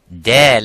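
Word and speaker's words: دال: Now, when we pronounce Dal, Dal is an empty mouth. It is not Dad.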